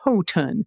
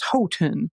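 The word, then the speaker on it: Houghton: That's H Hotton County in the city in Michigan's UP is pronounced Hoen. Ho like Santa's chro and ton like 2,000 lb. Hoen.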